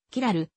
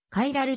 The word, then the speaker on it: キラル: の平瀬キラリティがあることをキラルケアルという英語風の発音で回ラリティカイラルとも言うこれらの後は